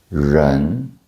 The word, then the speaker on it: 人: It's somewhere in between. It's like your tongue curls back and saying, surprise.